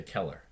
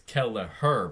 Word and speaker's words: Kelleher: and they just say Keller. It's Kelleher, but they always say Keller.